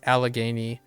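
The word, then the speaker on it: Allegheny: There's an al it's alagany. So this L is pronounced. Yeah. So this L ends up being pronounced.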